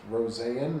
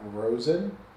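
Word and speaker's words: Rosén: Owen Power, Jack Quinn, JJ Purka, Uko, Pekka, Lucinan, Isaac Rosanne. Yes, it's pronounced Rosanne, not Rosen.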